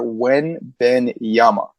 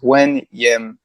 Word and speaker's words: Wembanyama: So it's Victor Wembanyama. Okay. So it's essentially 3 syllables. Wembanyama. So yeah, 3.